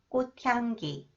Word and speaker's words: 꽃향기: The sound of the final consonant 치읒 is changed to 디귿, 꽃, and then combined with 히읗, it is pronounced 트 sound, 꽃향기, 꽃향기, 꽃향기가 좋아요, 꽃향기가 좋아요.